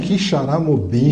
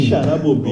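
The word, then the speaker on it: Quixeramobim: Nem sei pronunciar esse nome. Como que é o nome? Quixaramobim. Quixaramobim.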